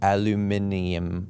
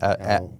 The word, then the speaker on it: aluminium: Today we're talking about steel, wood, or glass doors, or as the British say, aluminum. Aluminium.